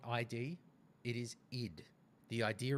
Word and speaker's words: id: the Dark Ages so ID software and it is ID not ID it is ID the